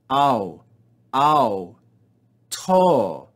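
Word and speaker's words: αὐτῷ: Alpha upsilon is a Greek diphthong, and so we keep them together in 1 syllable. Omega with iota subscript is also a diphthong. We read these together. Notice the mark that there is no aspiration. Au, au, to.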